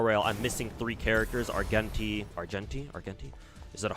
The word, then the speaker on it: Argenti: I think it's a hard G. Okay. Argenti. Gotcha. I'll call him I'll try I'll try to remember to call him Argenti from now on.